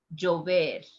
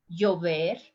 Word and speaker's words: llover: The verb is llover. Listen the pronunciation with the three different forms. Llover, llover, chover.